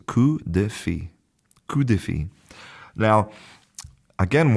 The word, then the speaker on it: coup de fil: Now, I haven't studied French since high school, so maybe my pronunciation in general is not great here, but I believe that it's coup de fil.